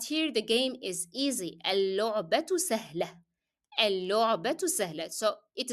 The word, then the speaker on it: اللعبة: So I add L and then I drop the pronunciation of لام because it will be followed by a شدة letter, لام with ضمة. اللعبة. So the لام that you are hearing here is the لام that is coming below شدة, not the لام in the definite article L.